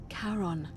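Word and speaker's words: Charon: As in Karon, the fairyman of the dead. Kaon, who in exchange for the right coin, helps the souls of the newly deceased cross the sticks.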